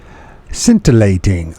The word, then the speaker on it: scintillating: of all let's make sure I pronounce right scintilating of course it's scintilating why I say see is silent so scintillating okay and our ordinary way of seeing we